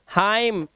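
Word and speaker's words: hymn: Column, dam, हाइम, एन को silent कर दिया इसने, ठीक है, एन को इसने क्या कर दिया, साइलेंट कर दिया।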